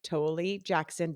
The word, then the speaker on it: Toelle-Jackson: of you listeners to get to know toly Jackson did I pronounce that right you did oh yay who